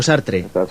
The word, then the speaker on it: Sartre: Me gusta mucho Sartre, sí, así es como se pronuncia.